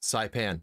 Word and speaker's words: Saipan: Saipan.